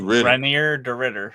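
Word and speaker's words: Reinier de Ridder: Renier de Ritter.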